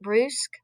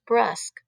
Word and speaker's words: brusque: this one word and it's um i've always pronounced it bruce b-r-u-s-q-u-e and then i was reading this summer and the word is actually pronounced brusk but uh i worked for an english lady